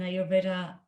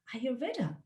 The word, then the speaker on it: Ayurveda: it it says that you pronounce it like are you reader anyway so um